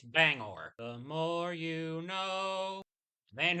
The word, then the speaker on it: Bangor: am pronouncing it correctly it's not Banger it's Bangor the more you know